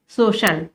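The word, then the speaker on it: social: किसी किसी वर्ड में सी के बाद आई ए ई ए होने पर सी का प्रोनाउंसिएशन श हो जाता है, जैसे सोशल। अब यहां पर क्या है, आई ए है ओशन, ये है म्यूजिशियन, देखिए यहां पर आई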